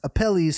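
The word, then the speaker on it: Apelles: I spell it a P E L L E S. Appellis.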